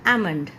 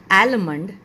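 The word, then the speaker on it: almond: बट यहां पर भी आपका एल जो है वो साइलेंट है ओके आपका प्रोनाउंस बनेगा आमंड आमंड I will have आमंड shake आमंड इट्स नॉट आलमंड इटस आमंड shake L आपका जो है व साइलेंट है उसकी साउंड यहां पर नहीं आएगी जैसे कि कुछ नेक्स्ट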